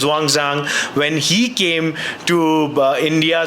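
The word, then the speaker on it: Xuanzang: This is one of the many many mahavaras when Huang sang or the proper pronunciations Wangzang when he came to India.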